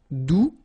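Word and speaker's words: doux: the beginning all right do you don't pronounce the final X do feminine form adverb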